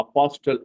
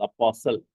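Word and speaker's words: apostle: இப்ப அப்பாஸ்டல், அப்பாஸ்டல்னு சொல்லக்கூடாது, அப்பாசல். D silent, அப்பாசல்.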